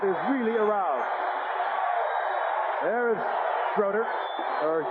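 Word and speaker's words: Jay Schroeder: back that crowd is really aroused there is schroer or J shraer spelled stroer but pronounced straighter third round draft pick of a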